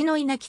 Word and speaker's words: 稲置: てという箇所では郡伊奈きと読む統計稲城のよう